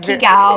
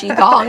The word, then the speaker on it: qigong: Don't try to sound it out. It's the hardest part of Qigong is just learning how to say it. It's not Qigao, it's Qigong.